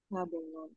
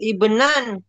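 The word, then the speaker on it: ابنا: Apa yang betul bacanya? Ibnun. Laki-laki. Nah, Ibnun Abnan. Jadi gak difathahkan, Ustaz? Fathah. Tapi yang tepat bacanya kam kam abenan. Bukan bukan a dibaca i tetap. Oh, Ibnan.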